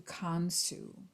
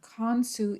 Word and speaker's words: Khonsu: today I would like to introduce you to con su from Sue's name is spelled KH o and su and in the Egyptian pantheon con su is the moon and so of course in